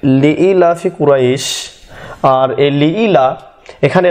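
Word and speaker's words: لإيلاف: আর এখানে নিয়ে এসেছি আমি হর্ষই নিয়ে আসতে পারতাম, কিন্তু এখানে নিয়ে এসেছি দীর্ঘই, এই কারণে যে উচ্চারণটা হবে লিই লিই।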